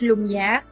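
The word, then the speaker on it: Lumière: team luminer they as how their name um is pronounced in French lumier which is light you know they kept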